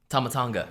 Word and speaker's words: Tama Tonga: How do you pronounce that? Oh, no, that's not. No, that's the damn. Tama Tonga.